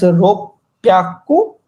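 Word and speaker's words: 六百: So 600 is pronounced as ropyaku, hup, actually indicates that where you should add a slight pause.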